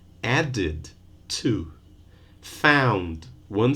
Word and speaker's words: added: Add, one syllable. Added, two.